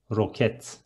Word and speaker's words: roket: And rocket is almost the same, but we are going to read it as roket.